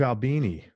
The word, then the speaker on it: Albini: Also, you work with Steve Albini. Is that how you pronounce his name?